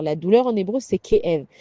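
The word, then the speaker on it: כאב: La douleur en hébreu, c'est kéev. Kéev, ça s'écrit kaf alef bet, c'est ké av, comme un père.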